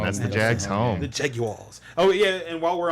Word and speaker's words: Jaguar: this that subject okay it's not jag wires and it's not Jaguars it's Jaguar Jaguar Jaguar Jaguar oh my God it's not that hard to figure out that's how you say it it's Jaguar are you on the